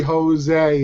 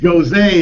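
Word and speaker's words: José: Joe's only because Jo's Jose is what they call but here's the problem right in English you pronounce the J in Spanish you pronounce j as an H H exactly all right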